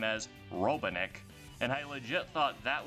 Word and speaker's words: Robotnik: a lot growing up, and I remember her mispronouncing Robotnik's name as Robotnik, and I legit thought that was how Eggman's